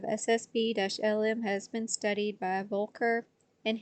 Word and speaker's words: Boelcker: The incoherent demodulation of SSB-LM has been studied by Volker and Hansen. Volker is spelled Boelcker.